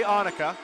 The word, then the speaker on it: Ahnika: I know I got pronunciation, maybe Kuse. It's definitely Ahnika.